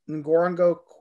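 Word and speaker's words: Ngorongoro: shots with the elephants that show the it's pronounced ngorongo crater right that's right yeah yeah don't don't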